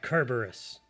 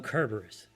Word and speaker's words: Cerberus: Sound this is because when written in Greek it starts with the letter Kappa no not that one